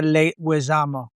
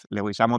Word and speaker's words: Leguizamo: Yo yo lo digo gringo porque los profesores nunca podían escribir ni pronunciar mi nombre. Entonces yo le decía, "Okay, hágalo fonéticamente." Entonces yo decía, "Le wesamo."